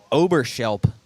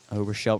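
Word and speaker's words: Oberschelp: bring up the third baseman number three David Oberershelp. Another good name there. Overshelp right-handed hitter. Fouls one out of play up the right side. O B E R S H E L P. Overshelp.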